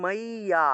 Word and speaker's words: মজ্জা: তাহলে শ্রী ভগবান উবাচা দুই নম্বর এখানে দেখুন মজ্জা আছে বাংলায় বললে মজ্জা ঠিক না কিন্তু আমরা উচ্চারণ করব মাইয়া এখানে দেখুন অন্তস্থ জ আছে আবার জ ফলাও